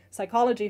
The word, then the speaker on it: psychology: So psychology for instance in German is so you do pronounce the P in German and then in English you don't. Um pterodactyl is another one that's nearly impossible to pronounce.